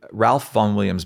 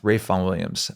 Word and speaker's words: Ralph Vaughan Williams: But my favorite composer, if I had to make there's a composer called Ralph Vaughan Williams, but pronounced Rafe Vaughan Williams.